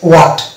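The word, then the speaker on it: what: হট, এটা এই British ইংলিশের ক্ষেত্রে এটা হচ্ছে ওয়াট। এটা উ, ওয়াই, উইচ, হোয়াইট। তাহলে এখানে এইচ কে আমরা সাইলেন্ট পাচ্ছি।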